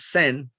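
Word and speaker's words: 善: is change of continuity the second kanji we pronounce sen the concept of good to improve benefits and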